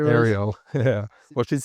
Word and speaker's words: Ariel: Ariel. Yeah. Well, she's spelled with double L E.